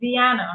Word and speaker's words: Dianna: Well, you know, the young lady next to me, her name is spelled as Dianna, but it's pronounced Dianna, right? And because it's pronounced as Dianna, I have to say Dianna.